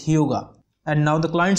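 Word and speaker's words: hygge: is yoga way yes the pronunciation of this word is hyuga and now the client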